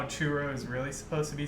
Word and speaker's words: churro: Do you guys think that people want to hear how churro is really supposed to be said? Yes. Yes. So enlighten us all, please. No, you guys should roll your R's.